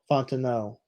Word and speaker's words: Fontenot: So I said it right the second time. So that would be Michael Fontenot. Fontenot.